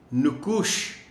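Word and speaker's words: نقوش: معالج، معالج۔ نمونہ، نمونہ۔ نکوش نام نون پر پیش ہے، ہم روانی میں انجانے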